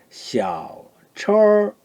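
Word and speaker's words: 小车儿: 자, 발음이 샤오, 철. 얼화 안 했을 때는 처죠. 처. 예. 자, 그렇지만 얼화하거나 철 이렇게 발음합니다.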